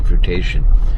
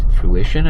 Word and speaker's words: fruition: until a fruitation i was going to say fruitation just learned that word recently it's fruition i believe anyways i would